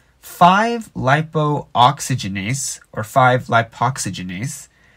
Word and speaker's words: 5-lipoxygenase: called 5-lipo oxygenase or 5-lipoxygenase i call it 5-lipo oxygenase even though it's spelled 5-lap oxygenase and so 5-lipo oxygenase